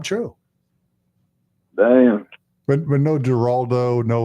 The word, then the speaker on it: Geraldo: But but no Geraldo. No. Like Geraldo. How do you say the G? It's like G Jorge Jazelle George. Geraldo. Heraldo.